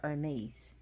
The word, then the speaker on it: Hermes: But he was later rescued, as I think I described it, by the god Hermes, but pronounced Hermes in Greek.